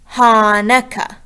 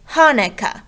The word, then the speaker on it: Hanukkah: If we were to put that in the third column, we would be saying that as Hanukkah. But we don't say it like that. We say Hanukkah with the faster part in the beginning.